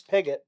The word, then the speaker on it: Pigott: it's Pigott. Nice. Yeah. All right. I think that's how I would have pronounced it, but there's no saying now that I've been led by counsel.